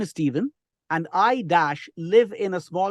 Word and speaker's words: Stephen: Never say Stephen. The pronunciation is Stephen. Stephen. Okay.